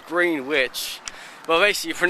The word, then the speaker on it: Greenwich: the side it says Greenwich well they see for you don't pronounce the e or all the duck the W say GRE and i CH finish now this is where